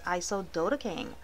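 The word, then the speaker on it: isododecane: i think i am pronouncing it wrong it's iso dota king that's the correct pronunciation but i will have the correct spelling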